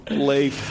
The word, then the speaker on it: Leif: Man, it's 4 letters. Right. I mean, come on. Leif. I mean, they misspell it all the time, so I mean, missay it, might as well. Just sound it out.